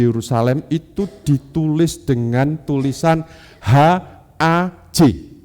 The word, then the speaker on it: haj: Apa yang dilakukan oleh orang-orang Yahudi diaspora ketika mereka berkumpul di Yerusalem itu ditulis dengan tulisan HAJ. Bacanya apa Bapak Ibu? Haj. Itu bahasa Ibrani Bapak Ibu.